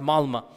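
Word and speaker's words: Malmö: of malma malma it's it's spelled with an O but it's pronounced malma and they said that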